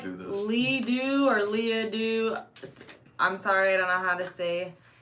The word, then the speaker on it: Leah: He called me Lee the first time when I had my 22, he said, Lee! And I'm like, How do you get Lee and there's an A-H at the end? It's Leah.